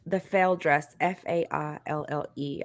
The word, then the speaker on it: faille: It says the fail dress, Faille. I would pronounce that as fail.